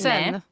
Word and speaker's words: Seine: Seine, ni får ursäkta mig, jag kan inte uttala franska men Se sen Sen i norra Frankrike och han bygger